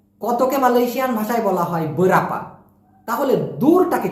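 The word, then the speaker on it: berapa: Malaysian ভাষায় বলা হয় বরাপা আমি আবার বলতেছি প্লিজ উচ্চারণটা সঠিক করবেন বরাপা বরাপা অনেকে বলে বিরাপা বেরপা না মেইনটা হবে হচ্ছে বরাপা আপনি শুদ্ধ করে বললে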